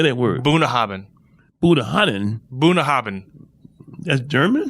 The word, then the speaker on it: Bunnahabhain: Bunnahabhain.